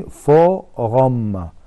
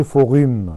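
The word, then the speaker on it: forum: نطق كلمة فوغام بتتقال بالطريقة دي، فوغام، ما تتقالش فوغيم، لا هي اسمها فوغام.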